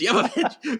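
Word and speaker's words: Jovovich: Evil movie commentary and she's like, "It's Yovich." She kept saying it. She kept correcting people. It's Yavovich. because even her castmates kept saying it wrong.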